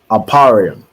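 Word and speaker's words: אֶפְרַיִם: see go ahead T aparium right aparium is how you say ephra in the Hebrew and it means I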